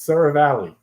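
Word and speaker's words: Seravalli: so i couldn't hear please somebody pronounce his name so i'm not pronouncing it wrong it's sarah valley okay sarah valley said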